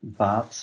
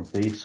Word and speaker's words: Baets: you um so yes I'm baths or base whatever you want to pronounce my surname um so in the